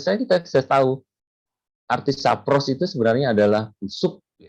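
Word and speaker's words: σαπρός: kita bisa tahu arti sapros itu sebenarnya adalah busuk. Itu tadi Sapros. itu bacanya seperti itu ya.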